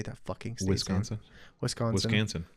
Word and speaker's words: Wisconsin: Wisconsin. Rhymes with mansion.